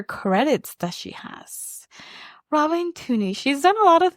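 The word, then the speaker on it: Tunney: We have Robin Tooney as Tooney. Is that how you say it? Yeah.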